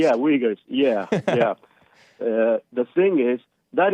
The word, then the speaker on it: Uyghurs: The Uyghurs, yeah. I think is how it's pronounced. Uyghurs.